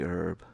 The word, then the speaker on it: herb: We actually pronounce the H. Because I imagine it's equally weird for you to hear us say that. Is it for you guys to do the H as silent?